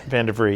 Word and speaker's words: Vandevrie: I pronounced that right. Vandevrie, yep.